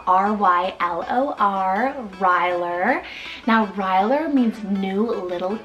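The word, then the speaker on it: Rylor: So I have Ryler, spelled R-Y-L-O-R, Ryler.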